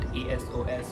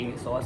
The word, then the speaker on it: ASOS: यू can pronounce that एएसओ एस और ए सॉस। बट I think उसे ए सॉस बोलते हैं।